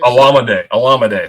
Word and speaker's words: Olamide: I'm going to screw the pronunciation. Olamide Zaccheaus. Olamide.